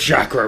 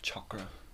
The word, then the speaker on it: chakra: nose slightly sticking out it's pronounced chakra get it right it's very important she